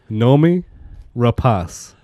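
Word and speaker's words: Noomi Rapace: hinges on her well she pronounces her name I looked it up and hey she herself said know me repose no me repose yes and where was the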